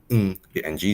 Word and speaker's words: Ng: in Mandarin just whoo so interesting enough our boy John Woo his name is actually in Cantonese is actually the mmm ng sound but he writes